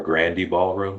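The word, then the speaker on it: Grande Ballroom: a famous club called Grandi Ballroom or Grandi Ballroom some people pronounce it.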